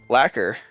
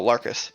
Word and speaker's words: Larkus: Lacquer. I'm pronouncing it wrong, and I probably am. Marcus. Oh, Larkus. Thank you, Okay. Larkus.